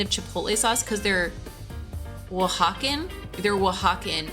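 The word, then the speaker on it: Oaxacan: like a kind of chipotle sauce cuz they're W hawen they're wwen it's w Hawkin style which is spelled like it looks like aoxin for those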